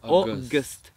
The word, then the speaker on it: August: So, esto es August, August. No pronuncio, no hay una U, no es August. Ogu, no hay una U, ¿sí? Es August. August. Perfecto. Marca un poquito más la O.